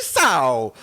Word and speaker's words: Sow: Saidi Sow, the 323-pound Bromont Quebecian as their first round pick of the 2023 draft. Not only because his name rhymes with cow, but he also used